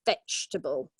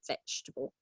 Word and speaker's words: vegetable: yeah okay ahead of me so yes three syllables vegetable so again we don't pronounce that second II okay and the pronunciation is on the first syllable exactly vegetable and the last one is causes often causes